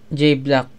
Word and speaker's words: J-Blaque: Basta pagtapos ko kay J Black, EU silent. Okay. Medyo na slow ako doon. Sa J Black pala, no, yung EU yung sa spelling ng black niya is silent.